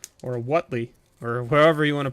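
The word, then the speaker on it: Huatli: box we got a Watley or what Lee or wherever you want to pronounce their name I think it's wat wat Lee I believe that's what everyone corrected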